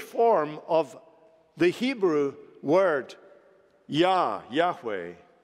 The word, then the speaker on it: Yahweh: of the Hebrew word Yahweh, sometimes mispronounced Jehovah.